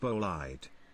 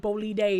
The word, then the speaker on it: bolide: Bol is pronounced bolide. Bol. Bolide. I've never seen that word in my life. I will try to commit that to memory, but I have a feeling my brain has already decided boly day is the way to pronounce it.